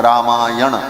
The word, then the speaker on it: रामायण: हो गया बोले रामायण अब व्याकरण के नियम से न को हो जाता है रामायण ऐसा उच्चारण किया जाता है तो अर्थ हुआ रामस